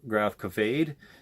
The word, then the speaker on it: Gravkväde: the little tidbit here, an A with the 2 dots above it normally makes it pronounce the noise, or any letter with the 2 dots normally makes it pronounce the noise. So if it's an O, it's ode, or if it's an A, it's A.